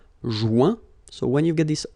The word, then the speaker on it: joint: Joindre, joint. Rejoindre, rejoint. Okay? Same thing. Final T not pronounced. Joint.